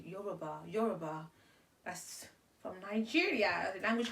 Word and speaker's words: Yoruba: My native language is Yoruba. They don't say it like that. It's Yoruba. How do I say it in English? Yoruba.